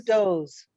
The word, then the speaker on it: does: mean those yes yeah one dough two doughs those the pronunciation would